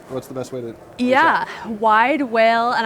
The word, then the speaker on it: Widewail: best way to yeah wide whale and i' I have heard that people are like is it wide wo is it wide wide is in like whale like beluga whale but it's spelled w